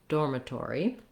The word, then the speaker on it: dormitory: So we again have first syllable stress. Door is our long syllable. And again, with the R, you may want to build from the R, or, door, dormitory. This letter I, again, is going to be either a schwa or an I, short and unstressed on that syllable.